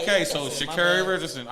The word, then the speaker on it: Sha'Carri: Because I remember, because she said it, we say her name is Sha'carri. No, it's Sha'carri.